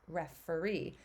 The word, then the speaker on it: referee: to point out how when we say refer that e is long but then when we add that suffix e at the end it shifts to a shorty sound and it's referee um so it's fun